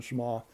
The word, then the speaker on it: Schama: I think that's how it's pronounced, Simon Schama.